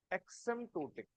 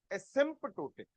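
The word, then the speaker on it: asymptotic: ध्यान से सुनना वर्ड वर्ड है एक्समटोटिक। कोई गलत बोल दिया। एक्सम नहीं एस्पेंटोटिक।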